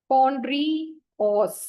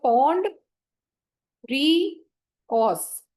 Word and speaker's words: Pondreos: Change करना है, POND, पॉन्ड्रीओस। ठीक है, तो इसको आप सेग्रीगेट कर सकते हो, पॉन्ड री ऑस, पॉन्ड्रियोस।